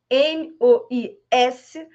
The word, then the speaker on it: mois: M-O-I-S, mas muitas palavras no final das palavras francesas, nas últimas letras, principalmente E, não são pronunciadas.